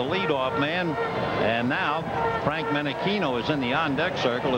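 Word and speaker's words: Menechino: You would think when you see the spelling of his name that it would be Menichino. After all, it's Chino, California. But he pronounces it Menichino.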